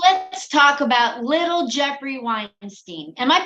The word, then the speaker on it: Weinstein: yes absolutely so let's talk about little Jeffrey Weinstein am I pronouncing your name correctly yes absolutely okay so